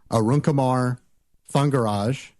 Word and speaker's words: Arunkumar Thangaraj: There's no way I'm going to be able to pronounce this, but the title of it is Scrumban, Being Differently Agile, by Arunkumar Thangaraj.